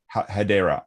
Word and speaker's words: Hedera: Is that am I pronouncing Hedera? Hedera with an A, yeah.